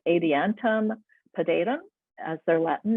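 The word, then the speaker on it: Adiantum pedatum: next is the northern maidenhair firm which is pronounced adiantum podaidum as their latin name and this is a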